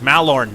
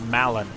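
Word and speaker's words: Mallorn: many things wrong and it's mal Lauren not Malan anyway mal orange trees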